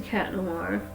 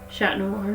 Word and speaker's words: Chat Noir: the time, even as a cat noir or chat noir, depending on how you like to pronounce it. I kind of use them interchangeably in a conversation. Like, oh, sometimes I'll say chat, sometimes I'll say cat.